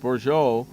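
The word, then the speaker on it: Bourjos: set so bour bouro that's how his last name is pronounced borjo was going to be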